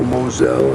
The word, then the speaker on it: Moselle: It looks like a vineyard patch up there, but nowhere near the numbers of the Mosel, or Moselle as the French call it.